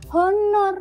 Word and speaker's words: honor: Kemudian honor, bacanya bukan honor, honor. Jadi an honor.